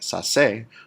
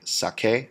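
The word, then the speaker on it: saqué: the same reason that we do not want the soft c sound to make it sound like sase, we want it to say sake, sacaste, sacó, sacamos, sacastes, sacaron.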